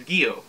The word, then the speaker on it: Gyo: on the interwebs and the robotic lady on google said that it was gio if i'm getting that